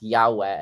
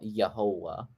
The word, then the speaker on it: Yahweh: Ellie is my God and then yahu is a variation of Yahweh Ellie which is one of the reasons why we think it's Yahweh and not yahovah yeah right um yeah